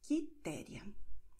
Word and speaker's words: Quitéria: Wobei in Q-E, Q-I, U stumm ist, wird geschrieben, aber nicht ausgesprochen. Dann entsteht dieser K-Laut. Carlos, Marcos, Custódio, Henrique, Quitéria.